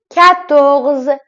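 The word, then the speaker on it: quatorze: تو ذهنتون جا میفته کتغز کدغز مثل کتخ که گفتم کو و او در واقع ک این دو تا حرف کنار هم ک صدای ک داره کو نمیگیم ک صدای ک داره بعدش چی اومده ا اومد اومده دوباره ک ک کتخ کتغز عدد ۱۵ کنز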